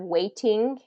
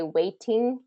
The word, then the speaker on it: waiting: the rule there is when a t is surrounded by two vowels it tends to be pronounced as a D sound instead of a t SO waiting instead of waiting waiting typically native English